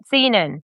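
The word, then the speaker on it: Senon: Sinan.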